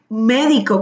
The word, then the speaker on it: médico: Entonces pone Deidri, médico con su acento en la E.